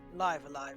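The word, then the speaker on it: Live A Live: next week oh well live alive is how they tend to pronounce it but i first played it when it was a translation patch for the snes so my brain always reads it live live no yes live alive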